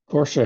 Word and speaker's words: Porsche: Porsche has two syllables.